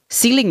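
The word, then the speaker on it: ceiling: adalah kayak begini deh tulisannya chailing atau sailing gitu ya. Kalau floor itu lantai. Sailing itu langit-langit lah istilah dalam bahasa Inggrisnya. Jadi nanti dia diibaratkan seperti itu untuk membulatkan ke atas siling ya bacanya ya.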